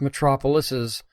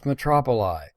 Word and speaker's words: metropolises: It's pronounced metropolises, not metropoli. Metropoli is, in fact, not an actual word.